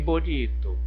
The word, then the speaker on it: bonito: Em bonito, bonito, bonito, é o ni.